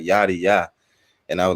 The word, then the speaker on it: Yaddiya: So just so I got it right, can you tell me how to correctly pronounce the name? Because I definitely don't want to mess it up. Yaddiya.